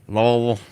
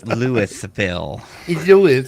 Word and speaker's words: Louisville: No, that's how they say Louisville. It's Lewisville.